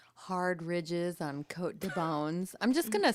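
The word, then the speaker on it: Beaune: ridges on coat de bones I'm just going to spell it out for you okay so Co de bone but it's b e a u n e I thought when you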